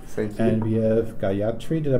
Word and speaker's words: Gayatri: And we have Gayatri, did I pronounce it correctly?